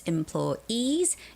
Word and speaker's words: employees: And um employees has the stress at the very end. It's employees. Employees.